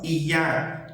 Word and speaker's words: ya: No eu e no já, fica decidido por cada região, se a pessoa fala yo ou io, se ela fala já ou se fala ia.